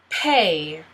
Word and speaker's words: pay: Pay. P-A. You don't really pronounce the Y. P-A.